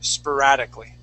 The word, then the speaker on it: sporadically: The word is sporadically. Okay. Now, even though it has an O-R, okay, we would pronounce that spur, sporadically.